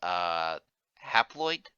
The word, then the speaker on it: haploid: Uh, the book referred to them as haploid. Is that how I pronounce it?